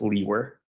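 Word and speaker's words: Liewer: is spelled l-i-e-w-e-r and it's pronounced Lee were and where are you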